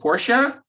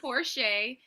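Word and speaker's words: Porche: you get a pass but it's poor shay and my first name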